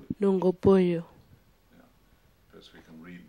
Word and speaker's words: Nunggubuyu: How do you pronounce the name of your language? What do you call it? Nunggubuyu.